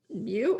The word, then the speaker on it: mu: letter mu uh so this is pronounced mu and written mu right so uh if